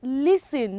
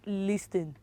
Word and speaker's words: listen: what it is silence so it is listen not listen are you repeating listen right